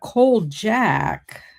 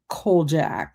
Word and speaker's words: Kolchak: Um, but Cold Jack, now watch, I'm saying it probably wrong. Let me see how you spell it. No, it might be Kolchak.